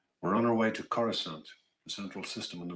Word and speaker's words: Coruscant: I'm used to saying Coruscant. All right. Not Coruscant. Coruscant. If you mispronounce it, it's okay.